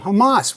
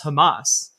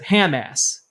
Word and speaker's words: Hamas: about how he loves Hamas. you you know you turn it on and he looks directly into the camera and says I support Hamas except he pronounces it Hamass.